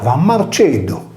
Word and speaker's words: Marcellus: Marcellus, qui avait tué un roi des Gaules, était comme Cossu Sardo, puisque son nom se prononçait Marceddu, de Martello.